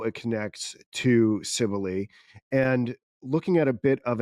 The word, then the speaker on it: Cybele: I even was in the YouTube comments of a pronunciation video the other night, and someone's like, "My name is Sibylle, and it's pronounced Cybele."